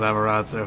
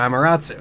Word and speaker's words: Amaterasu: There's a little bit of stance dancing with I always call her Amaterasu, because that's how I feel it should be pronounced.